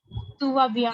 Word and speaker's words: tu vas bien: pronounce? Tuva bien.